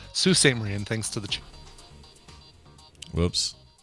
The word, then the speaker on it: Sault Ste. Marie: I pronounced it wrong. Sault Ste. Marie, and thanks to the...